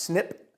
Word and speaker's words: SNP: or single nucleotide polymorphism abbreviated SNP and pronounced snip a single snip is